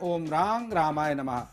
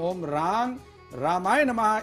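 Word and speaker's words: ॐ रां रामाय नमः: का ये मंत्र है ओम रांग रामाय नमः। इसको माँ उच्चारण नहीं करना है, रा के ऊपर बिंदी इसलिए ना का उच्चारण करना है। उच्चारण में ध्यान रखें, ओम रांग रामाय नमः इस मंत्र का आप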